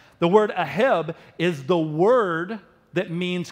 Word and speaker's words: aheb: It's the word that is used there called aheb, A-H-E-B. If you want to say it like a Jew, you would say aheb.